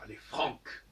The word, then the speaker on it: Francs: Puisque nous descendons des Francs, et les Francs, comme je disais tout à l'heure, ça se prononce avec un K, les Francs.